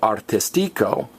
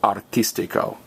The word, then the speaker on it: artístico: means easy and again the accent Mark says guys do not stress the next to last vowel don't say artistico which is how you